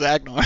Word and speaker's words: Agnar: But now I know that the right pronunciation to this card is Agnar because what I was going to say was nowhere near that.